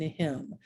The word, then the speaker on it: hymn: So for instance, look at these silent letters in sign, bomb, and hymn. You might be thinking, why can't you just drop the silent letter?